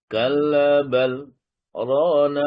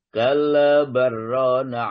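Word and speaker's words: كَلَّا بَلْ رَانَ: Kalla bal rana ala qulubihim ma kanu yaksibun. Jadi, kalla bal harus berhenti sejenak tanpa bernafas. Tidak boleh. Kalla barrana ala, tidak boleh. Wajib saktah. Kalla bal rana ala qulubihim ma kanu yaksibun.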